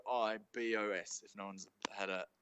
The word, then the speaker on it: rooibos: that it just a hundred percent what's good roy bosch however you want to say it really boys rude rude boys i'll start calling it rude boys yeah so it's to spell it it's r o o r-o-o-i-b-o-s if no one's had a so it could